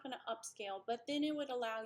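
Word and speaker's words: Upscayl: have is a free open source program called upscale it's spelled a little different if you'll notice here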